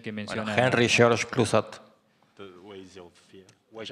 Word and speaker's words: Clouzot: Sí, Clouzot, Henry George Clouzot. Es este señor que menciona. Bueno, Henry George Clouzot.